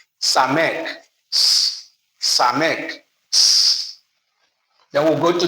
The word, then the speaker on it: Samek: Just as we pronounce the first letter in the name, Samek. Samek.